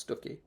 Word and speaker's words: Stiffkey: The Rector of Stucky, written Stiffkey, pronounced Stucky, aka Harold Davidson.